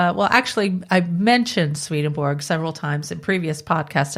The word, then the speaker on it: Swedenborg: shifted from swedeborg to swedenborg and I always just sort of say sweeten both myself so I mean I I mispronounce I just I butchered the name all the time um yeah